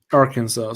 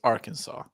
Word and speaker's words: Arkansas: I think they're called Arkansas yeah Rock toown Arkansas yeah pronunciation things the S on the end is silent yeah I know but